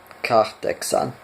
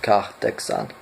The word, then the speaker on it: kahdeksan: Kahdeksan. Kahdeksan. Okay, remember the H is always pronounced in Finnish. Kahdeksan.